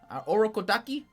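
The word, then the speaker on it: Urokodaki: him to go to Oro kodaki that's how you say his name um he learns that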